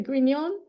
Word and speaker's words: Grignon: gon I forgot to ask you is it gon um yeah it actually is properly pronounced that way so that's fine okay I